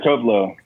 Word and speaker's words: Tove Lo: Yeah, Tove Lo.